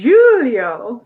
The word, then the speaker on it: Julio: brazil julio or like let's say it correctly julio from brazil julio julio from brazil but